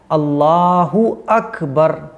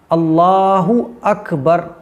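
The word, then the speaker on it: الله أكبر: अब दोनों को जब आप मिलाएंगे तो हो जाएगा अल्लाहु अकबर। अकबर अकबर, कुछ लोग अकबर नहीं अकबर, अल्लाहु अकबर। तो ये सही प्रोनाउंसिएशन है। अल्लाह अकबर ऐसा नहीं, हमें बोलना है, साफ़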